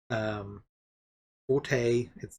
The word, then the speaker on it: forte: Forte. It's called pronounced fort.